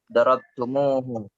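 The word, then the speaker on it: ضربتموه: Darabtumuhu. Ini menandakan jamaknya ya. Kalian telah memukulnya. Jadi bukan darabtum tumuhu, bukan, tapi ada yang ditambahkan wawu.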